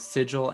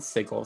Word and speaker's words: sigil: far as pronunciation goes i've heard both sigil and sigel so i think both of them are correct uh as far as